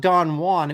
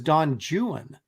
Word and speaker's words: Don Juan: poetry teacher say that it was not Don Juan it was Don jwan do you believe that